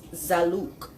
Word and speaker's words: Zaalouk: doing a simpler African dish tonight this is zaluk zaluk z a a l o u k and it's spelled differently depending on where you are up